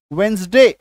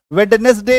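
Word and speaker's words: Wednesday: ये देखो WED, तो डी के बाद एन था तो डी को काटो, वेंसडे, वेडनेसडे नहीं बोलेंगे, गलत हो जाएगा।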